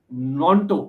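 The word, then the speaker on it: Gnonto: For people who डू नॉट know, the name is Wilfred नॉन्टो with ji being silent, I am assuming.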